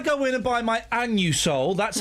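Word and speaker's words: Anusol: Listen, when I go in and buy my annu soul, that's how it's pronounced.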